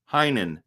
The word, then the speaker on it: Heinen: Heinen, that's how you say it.